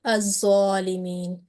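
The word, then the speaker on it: الظالمين: Yes, huruf shamsiya, and in huruf, when any of huruf shamsi comes after blank lam in a noun, then it is not pronounced or it is assimilated. So this word is, if we start from here, az-zalimin, and you pronounce that correctly.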